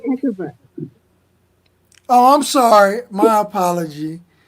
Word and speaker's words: Hecava: My name, the pronunciation is Hecava.